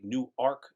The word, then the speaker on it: Newark: We are 15 miles from Newark, New Jersey, or shall I say Newark, New Jersey, how some people pronounce it.